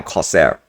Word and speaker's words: Corsair: course there and Corsair Corsair now Corsair right there's no h there's no silent h anywhere and that's that so